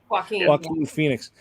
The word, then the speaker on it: Joaquin Phoenix: Joaquin Phoenix.